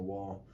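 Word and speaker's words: は: so leaning on the wall, and they're just dancing with their hands. So I guess that's a good way to remember it. But when it's used as a particle, it's actually pronounced wa.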